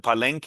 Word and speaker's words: Palenque: Uh, I wonder about so you write about is it Palenque, is that how you pronounce yep, right?